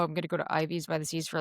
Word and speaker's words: IVs by the Seas: So Ivy's by the seas is one, it rhymes. Two, it's catchy.